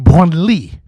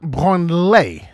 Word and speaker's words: Branly: It's pronounced Branly, not Branley. I made the mistake of pronouncing it Branley, then it became the Museum for Touching Yourself.